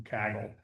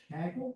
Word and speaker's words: Kaggle: myself just to kind of experiment I've just been downloading it from from Kaggle.